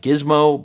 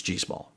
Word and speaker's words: GIISSMO: And remember, that is the pronunciation. I didn't make that up. It may read like GIISSMO, but the manufacturer assured me it's GIISSMO.